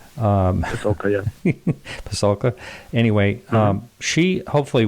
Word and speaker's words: Pasulka: We had over in the YouTube chat, we had Diana Pasulka. I probably pronounced her name wrong. Pasulka, yeah.